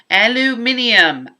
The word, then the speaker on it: aluminium: do it in Arena aluminium every time I say that my kids think I'm crazy they're like what are you saying I'm like well that's how you technically should say it um I was blocking